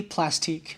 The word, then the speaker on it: Plastiq: yesterday on the stream, it's definitely Plastique, because if it was just plastic, they would have just spelled it with a C, okay? So I'm on Team Plastique over here. That's how I've always pronounced it.